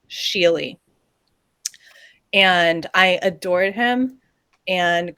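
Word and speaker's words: Skjerli: name was sheily and it is not at all spelt how you think it's spell it's s k j e r l i sheely and i adored him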